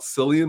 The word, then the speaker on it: Cillian: And especially one without Cillian Murphy. Yeah, Cillian what do they call him? Killian? Cillian? Killian, meow. I call Yeah, him, yeah, it's Cillian Murphy, I'm sorry.